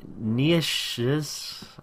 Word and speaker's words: Nietzsche: He became enamored of the philosophy of, I cannot pronounce this name, Nietzsche's, I cannot pronounce this guy's name. It's Nietzsche. S-C-H-E. It's German.